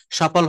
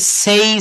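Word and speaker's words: say: আমি বলি please সে something, এটা বলা হবে না, প্লিজ সেই সামথিং, প্লিজ সেই সামথিং।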